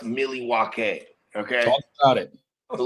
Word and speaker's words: Milwaukee: First of all, according to the indigenous folks from that area, it's pronounced Milwaukee.